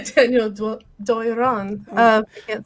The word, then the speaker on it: Doiron: I think it's Doiron. If I do the French R. Yes, I'm not French, and I made a C in French, but I'll say Daniel Doiron.